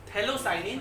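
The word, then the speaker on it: phthalocyanine: Doped थैलोसाइनिन, P silent है उसका।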